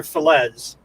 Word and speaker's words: Felez: Is that how you say his name, Felez, or is it Felez or Felez? In a Spanish way, it's Felez. Felez.